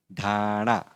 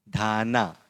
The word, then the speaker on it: ढाणा: लेकिन ये वाला जो न है इसका प्रोनाउंसिएशन ण है, ण। ढाणा, ढाना, इस तरह से नहीं बोलेंगे, ढाना इस तरह से नहीं बोलेंगे, बल्कि क्या बोलेंगे, ढाणा।